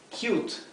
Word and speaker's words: cute: eh tierno dulce verdad cute referen a un animal o una persona verdad cute es la pronunciación u de la u verdad esto es Cut